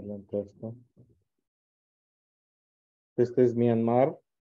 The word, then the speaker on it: Myanmar: Oh, ¿Y cómo se pronuncia? Myanmar.